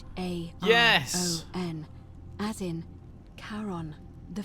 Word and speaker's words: Charon: It's just as you described it, only your pronunciation is a little off. The name you heard wasn't Karen. Oh, right. Charon.